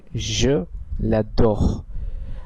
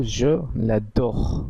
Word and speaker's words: je l'adore: সেই জন্য আমরা বলছি je l'adore। আপনারা নিশ্চয়ই খেয়াল করলেন এখানে এক পর্যন্ত উচ্চারণ করা হলো, এখানে টা আর উচ্চারণ করা হলো না। আর এর বাংলা কাছাকাছি অ্যাকসেন্টটি হলো je l'adore।